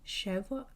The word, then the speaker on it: schwa: Medieval Hebrew griarians describe the Okay, so it's pronounced cheva chev marking very short or empty vowels.